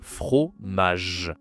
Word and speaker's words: fromage: Attention ici, la prononciation. J. D'accord? Ici, on a la consonne J. Donc le fromage. Le fromage.